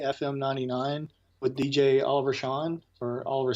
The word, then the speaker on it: Sean: They're on WOA FM 99 with DJ Oliver Sean or Oliver Scene. I'm not sure how you pronounce it. It's pronounced Sierra Echo Alpha November. Yes, it is. That'll be Sean.